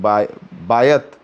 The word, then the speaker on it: Bayat: ने हमला करके एक बायत ब्रिज है जिसे BAYAT, सो बायात भी बोल सकते हैं या बायत बोल सकते हैं।